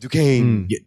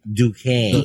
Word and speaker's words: Duquesne: talk about jack duquesne to kezny but it's pronounced duquesne duquesne the swordsman the swordsman in the comics his